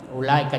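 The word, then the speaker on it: أولئك: Jadi wawnya tidak dibaca karena tidak ada barisnya, ya. Ulaika, jadi jangan dipanjangkan tapi ula.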